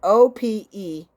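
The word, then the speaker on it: Opelousas: She has become the first African-American in Oppaloosa. Is that how you say it? Oppaloosa, Louisiana. It took me a long time to even try to get it out. So it's Opellousas. I think I need my glasses.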